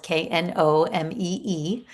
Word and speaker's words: Knomee: It's spelled Knomee. So there's no W. A lot of people like to throw in the W. No W, Knomee with two E's.